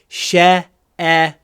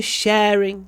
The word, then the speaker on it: sharing: Гласный э намного длиннее, чем второй слог. Sharing sharing. И ещё как произносится ш перед э произносится как русский щ. Ну я не знаю, как вы произносите ша, конечно, но чтобы этот звук хорошо получилось. Надо ставить кончик языка за нижними зубами.